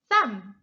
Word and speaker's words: thumb: Thumb, thumb. The B is silent.